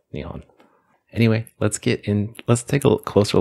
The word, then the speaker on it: 日本: Presumably this is done because Nippon has the ring of being a more classic and older pronunciation of Nihon.